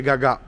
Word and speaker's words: Gagà: Milano è più bello Gaga Milano c'è l'accento sulla quindi è Gagà Io speravo che stare